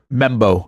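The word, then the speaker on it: Membou: and that Big Hoss is Armen how you pronounce his last name membo membo okay easy enough looks lot harder than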